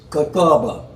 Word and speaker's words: Kakaba: It's pronounced Kakaba, and there's a Kakaba, the Transit Lounge.